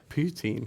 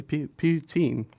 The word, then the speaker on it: poutine: change it to ptin to what sorry poutine poutine which is basically just cheese chips and gravy but Canadian I didn't know that yeah see he learn something new every day ptin ptin how do you spell that p o